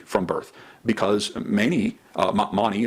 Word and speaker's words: Mani: birth because many uh Mani as I've heard it pronounced more regularly Now by uh Scholars money actually taught that that